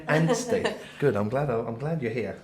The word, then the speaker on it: Anstey: Kate, am I pronouncing that right? Kate Anstey. Anstey.